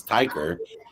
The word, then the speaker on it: Tykr: my team who put the pronunciation is ticker and uh would have been blessed to have the notes beforehand. I could have fixed that. It is ticker.